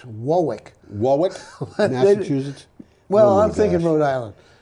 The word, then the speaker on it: Warwick: warwick in the uk and if you say warwick they laugh at you well it's it's not quite warwick it's wowick well i'm thinking rhode island oh okay the